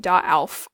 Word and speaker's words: darauf: You'll see here we added an R here in the middle. That's just to make it pronounceable because I don't want to run around saying darauf all the time. So, darauf. Ich bin stolz darauf. We just do that because we've got two vowels.